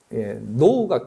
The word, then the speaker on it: know: 노우가 KNOW잖아요. 근데 K를 묵음을 하잖아요.